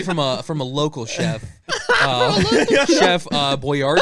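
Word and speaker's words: Boyardee: Chef Boyardi. I think it's pronounced Boyardi.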